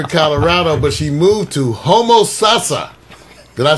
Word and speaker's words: Homosassa: She was born in Denver, Colorado, but she moved to Homosassa. Did I say it right? Yeah. Homo Sasa, Florida.